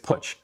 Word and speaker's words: Putsch: By the way, if you want to know how to pronounce my last name, it's Putsch, as in put your money where your mouth is.